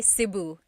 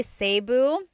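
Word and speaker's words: Cebu: it seu or SIU so technically in the talog alphabet the letter e can be pronounced e or E like the letter I so I say SIU SIU and I know some people say seu but usually it's either SIU or sebu good question all right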